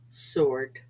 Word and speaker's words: sword: r ack wrist wrinkle and sometimes after s answer sword so take a minute